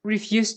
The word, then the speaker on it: refuse: saying refuse saying refuse putting the stress on the first syllable and also changing the pronunciation from e to uh refuse means what refuse